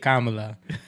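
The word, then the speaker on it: Kamala: But I didn't know it was pronounced camela. And I was breaking this down to at least and then I had to do a whole lesson about how Trinidadians don't say short a sounds.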